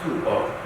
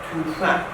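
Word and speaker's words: 吐蕃: And in Chinese, in Tang Dynasty, in Chinese documents say the Tibetan nation called Tubo. And when conversation, he said that pronunciation is wrong. Not Tubo, should be Tufan.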